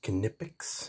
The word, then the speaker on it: Knipex: tool is here both tools are made by canipix k-n-i-p-e-x they just pronounce it canipix if you go to their website they have